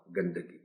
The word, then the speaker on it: گندگی: لکھ دیا جاتا ہے، اور گندگی کا جو تلفظ ہے اس میں دال پر زبر استعمال ہوتی ہے، تو اسے ایسے ہی پڑھنا چاہیے۔ آلودگی، آلائش، آلائش اور گندگی۔ عناصر، عنصر اس کا